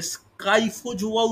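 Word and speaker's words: Scyphozoa: Second হচ্ছে স্পাইফোজোয়া, spelling ভুল হচ্ছে, স্পাইফোজোয়া, ওকে, স্পাইফোজোয়া। কিন্তু অনেক জায়গায় SPHY থাকে, অনেক জায়গায় SCY থাকে, তাই উচ্চারণটা এই স্পাইয়ের জায়গায় অনেক বইতে দেখবে স্কাইফোজোয়াও বলে উল্লেখ করা আছে।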